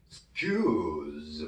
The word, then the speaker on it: excuse: q에 액센트가 있는데 s 다음이니까 q로 발음이 되겠죠. excuse me 이렇게 되겠죠.